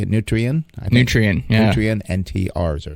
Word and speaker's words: Nutrien: Nutrient, yeah.